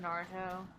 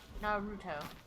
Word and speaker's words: Naruto: been saying it wrong i've been saying naruto it's not can you not be a giant ball it's naruto i just have to